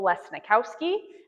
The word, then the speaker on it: Lesnikowski: If you want to remember how to say it, if you've ever watched Monsters, Inc., you know of Mike Wazowski. If you could say his name, you could say my name.